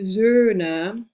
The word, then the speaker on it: Söhne: And so you pronounce it very differently. See the floating umlaut and then the E. So der Sohn versus die Söhne, O, Ö, die Söhne. So it's like quite a different sound.